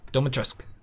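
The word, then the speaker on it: Dimitrescu: there she is lady doma trusk yes sir i'm proud of the fact that i know how to pronounce it dolma trask if you want to get really accurate or just i don't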